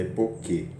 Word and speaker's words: epoché: Essa é epoquê. É escrito epoché, né? Mas a pronúncia é epoquê.